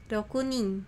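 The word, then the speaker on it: 六人: 1人 Hitori, 2人 futari, 3人 sannin, 4人 yonin, 5人 gonin, 6人 rokunin, 7人 shichinin, 7人 nananin. Hai, ijo desu ya. Demikian itu pengucapannya untuk jumlah orangnya ini.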